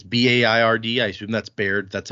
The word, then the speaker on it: Baird: It's Baird. I assume that's Baird. That's how we pronounce the town near here that has that same name.